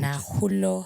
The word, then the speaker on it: Nakhulo: Nakhulo. K is silent in both, so it's Nakhulo.